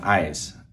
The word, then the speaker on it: عايز: So the way I think of it is Anna. We know Anna is me or I, and eyes. Anna eyes, like your eyes.